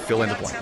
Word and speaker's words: Phil and DeBlanc: Do you know how to pronounce that? Fill in the blank. Fill in the blank. Oh, I see what they did there.